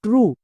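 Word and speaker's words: true: এবার শব্দের শেষে কি আছে? ভাওয়েল ই, তার মানে কি সাইলেন্ট, দরকার নেই। যেমন টি আর ইউ ই ট্রু।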